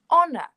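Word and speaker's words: honour: Now, honor is the same in that the vowel sound that we hear at the beginning, it's not h, so it's not a consonant sound, it's a vowel sound.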